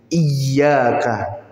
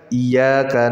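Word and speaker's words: إِيَّاكَ: na'budu wa iyaka nasta cara bacanya adalah dengan di tasdid iyaka ini yang benar Pak bacanya iyaka na'budu Wa iyaka nastain ada sebagian dari saudara kita yang dia membaca al-fatihah ini tidak dia tasdidkan dia baca iyaka na'budu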